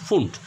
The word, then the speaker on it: Pfund: পি দিয়ে শুরু কিন্তু বানানটা PFUND হলেও উচ্চারণ হবে ফুন্ট, এবং হামফ্রিজ।